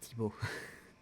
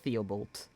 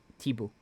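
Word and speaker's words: Thibault: a narrator talking but that's pronounced tibo not theobalt just tibo all good most of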